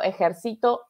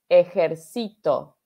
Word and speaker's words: ejército: diferencia ejército ejército ejército la diferencia está en las en la sílaba tónica dónde va el énfasis de la de la palabra ejército da ese es de militar y ejército ejército ajax esa es